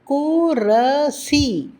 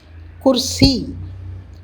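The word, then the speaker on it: कुर्सी: குரசி, குர்சி. இங்கு பாருங்கள், இறுதி எழுத்து சி என்பது ஈ என்ற ஒலியில் முடிகின்றது. எனவே அது முழுமையாக உச்சரிக்கப்பட்டு விடுகின்றது. அதே சீக்கு முன்னாடி இருக்கும் ரா பாதியாக உச்சரிக்கப்படுகின்றது.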